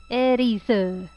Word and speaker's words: Aerith: I call her Aerith. It's how it's spelled. Erisu. Fine, I'll say it in the Japanese way.